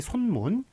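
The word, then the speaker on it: 쑨원: 예, 그러니까 손문 같은 경우는 이제 한국식 발음이고 순엔 같은 경우에는 이제 중국식 발음인데 어떻게 쓰는 게 맞을까요? 예, 요거 순엔이라고 쓰는 게 맞죠.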